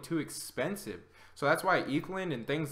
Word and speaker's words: Ethlend: Ethlend.